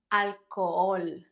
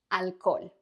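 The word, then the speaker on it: alcohol: can we pronounce it the age in Spanish is special because it's always silent like one word that almost all my students mispronounce at the beginning is this one it's not Alco ignore the H alol however when we come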